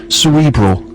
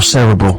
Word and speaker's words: cerebral: a little bit more cerebral. Or cerebral, however you choose to pronounce it, it's fine. Language very much. Rufus surely knows the answer. Cerebral, emphasis on the first syllable.